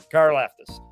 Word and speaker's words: Karlaftis: So, and I know I just read that The kid from Purdue, I don't even, how do you pronounce his name, Dives? George Karlaftis. Karlaftis.